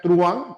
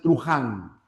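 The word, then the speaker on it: truhan: Ahora ten cuidado ya, porque a veces les gana el inglés y en vez de pronunciar truan, pronuncian trujan. Y evidentemente si tú pronunciaras trujan está mal pronunciado, ya no sería una palabra aguda, ¿no?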